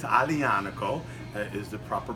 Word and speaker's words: Aglianico: american like me in new york and say ugly onic Oh but it's Adi Annika is the proper pronunciation it has ties to degree and because